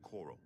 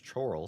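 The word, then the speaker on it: Chorrol: He lives quietly as a monk at Wayan Priary near the city of Coral. Oral. I would have pronounced that as choral, so it's a good thing that you said it first.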